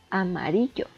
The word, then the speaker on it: amarillo: Esta está dividida en 4 sílabas y vemos que la sílaba tónica recae en ri, amarillo.